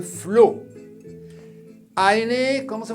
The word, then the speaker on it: flot: Así, la T no se pronuncia. Le flot.